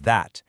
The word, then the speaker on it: that: All 4 of these words start with a voiced TH sound. It's not a hard D or a soft T. It's a vibrating sound.